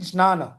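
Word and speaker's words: ज्ञान: But the starting word for both ना jnana, मतलब the proper pronunciation is actually jnana.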